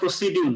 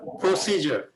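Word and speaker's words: procedure: আসলে এটা হচ্ছে প্রসিজার এই ডি এখানে জ উচ্চারণ হয়ে যাবে যার কারণে প্রসিডিউর না প্রসিজার এই সি এর উপরে এখানে একটা হবে প্রসিজর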